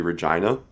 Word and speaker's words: Regina: yeah here it comes I originally we thought it was a Reginald it's not it's not we got corrected by a local we were like use shirts it's Regina all right what does